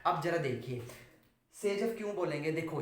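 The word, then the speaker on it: Saytzeff: This one इज the major product according to कौन सा rule बताया था, सेजफ, SAYP, स्पेलिंग रहेगी इसकी ZEFF, सेजफ रूल, ठीक है।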